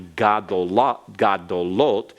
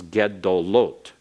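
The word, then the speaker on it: גדולות: What we would think might be gadolot becomes gedolot. Gedolot. So that comments changes because it's in the third syllable, the third vowel back from the accented syllable.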